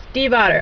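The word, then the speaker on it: Stiefvater: have Forever by Magie Steve OT yes that is how you say it it is Steve OT I looked it up okay I'm good it's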